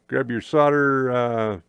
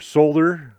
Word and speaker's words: solder: Grab your solder or your solder. It's pronounced solder, not solder.